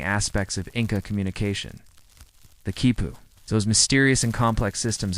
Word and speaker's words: quipu: A kipu pronounced kipu is essentially a collection